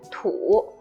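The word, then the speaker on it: 土: this third one is longer this one is pronounced as tu it means dirt or Earth or you can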